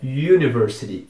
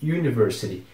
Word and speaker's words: University: que significa Universidade Então esse U no começo da palavra University tem aquele biquinho que a gente faz quando a gente vai pronunciar o pronome é University University outro exemplo disso é